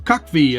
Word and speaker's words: CUCV: but here it is the cucv or cuck v as it's sometimes pronounced there's been a